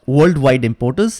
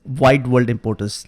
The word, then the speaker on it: Wide World Importers: wide world importers and I pronounce this right it's not worldwide importance it is wide world importers let's change the database